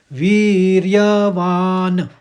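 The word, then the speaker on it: वीर्यवान्: है ना विसर्ग है केवल एक हलंत है तो इसमें हम इसका जो उच्चारण करेंगे वीर्य तो पूरा पढ़ेंगे य के साथ वीर्यवान वान माने हल्के से क्योंकि न हलंत में है तो इसका दूसरा चरण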